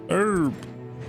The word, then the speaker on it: Herb: Did you pronounce the H? It's Herb. The H is silent.